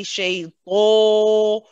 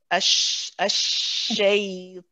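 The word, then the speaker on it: الشيطان: We want an "ah" sound, which is heavy. Yeah. So you don't want to say "shaytan." If your lips are looking rounded, then you're going to be making the wrong sound at the end. Okay. If you look at mine, if you look at my mouth, ash-shaytan. See how my lips are not round at all.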